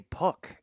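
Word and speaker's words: Puk: Puck is now in for the Marlins. And it'll start with a sweeper that will leave Duran staring. 0-1. And it is pronounced how it's spelled, P-U-K.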